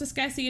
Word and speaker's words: Escassi: It's pronounced Escassi, and you don't need to worry about it.